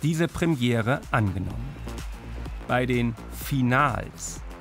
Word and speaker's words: Finals: Bei den Finals. Ja, tatsächlich deutsch ausgesprochen, denn es sind erstmals viele deutsche Meisterschaften in einem.